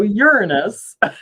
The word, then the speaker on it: Uranus: Okay, so Uranus.